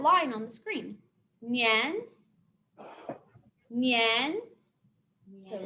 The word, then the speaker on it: 年: And the second is nian. That tone goes up, like we're asking a question, like that line on the screen. Nian, nian.